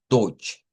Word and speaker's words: Deutsch: comenzar con la palabra dodge, que dicho sea de paso, se escribe con una eu, pero el sonido es una oy, es un diptongo de una o corta con una i corta.